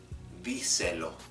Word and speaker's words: díselo: syllables, then I will make sure to stress, to put an accent over the 3rd vowel, the 3rd syllable from the end. For example, tell it to her. Díselo, díselo.